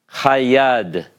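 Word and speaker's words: הַיָּד: the hay with the patah and then a dagesh in the first consonant of the noun, it's hayad.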